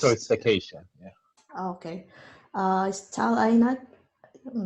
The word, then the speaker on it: Tal Einat: Is Tal Ainat? I'm not sure if I pronounce it. Tal, yeah. Yeah, that's me. Can you hear me? Yes. All right. So yes, it's Tal Einat.